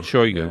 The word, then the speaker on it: Shoigu: How do you pronounce it? Shoigu, right.